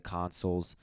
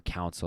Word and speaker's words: consul: comes back to the consuls or council as i pronounced it early it's actually consul um two were elected